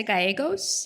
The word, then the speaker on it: Gyos: My name is Gyos. You pronounce it like ego. Lego go my ego. Gyos.